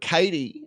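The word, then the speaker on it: Caitie: I'm not 100% sure, but Katie, I think that's how you pronounce her name. It's C-A-I-T-I-E. Yeah, Katie.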